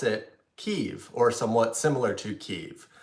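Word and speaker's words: Kyiv: the comments would correct me and say it's pronounced keev not Kiev and so the pronunciation of the capital of Ukraine is actually a dividing line ukrainians pronounce it keev or somewhat similar to ke while Russians would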